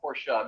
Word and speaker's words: Porsche: car company um and correct pronunciation thus ends in an a and as everyone's coming